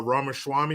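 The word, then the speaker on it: Ramaswamy: against anybody Vivek uh Rama Swami is how you say his last name he's good he's cool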